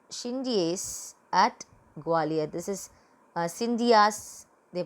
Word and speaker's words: Scindias: This is Scindias they pronounce, and we can pronounce it as Shindes also.